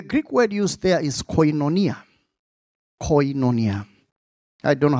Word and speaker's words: koinonia: The Greek word used there is koinonia. Koinonia. I don't know how they pronounce it.